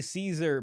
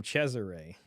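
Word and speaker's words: Cesare: the Bourg and it I would always say Caesar boura but in the in this TV series they called him chesar so I was like is that the right way to say it Chesire I know Cesar is I think the Spanish way of saying it uh Robert says asmin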